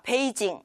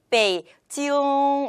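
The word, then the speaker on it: 北京: 특히 나이인 같은 경우에는요 우리 북경을 중국어로 하면 페이지 용 페이지 용 이라고 표현을 합니다 자 베이징 이 것이 아니라 베이 지 용 이렇게 꽃 꿈 의 약간 간지러운 느낌을 살려서 표현을 하면 퍼 중구 것으로 더 정확한 발음으로 표현할 수 있거든요 이왕이면 우리말의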